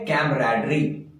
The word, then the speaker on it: camaraderie: इसका प्रोनाउंसिएशन है कैमराडरी, और ये दोस्तों एक नाउन है।